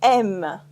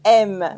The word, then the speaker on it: aimes: Tu aimes. Tu aimes. With the silent S at the end.